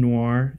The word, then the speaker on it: noir: But it's set in this interesting like Art Deco / film noir. Is that how you pronounce that?